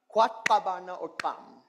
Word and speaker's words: Kwatkabana Okam: And so how you would pronounce that title is Kwatkabana Okam.